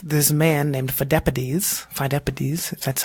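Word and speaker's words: Pheidippides: so they sent this man named four deputies fine deputies that's how you pronounce it he ran from marathon all the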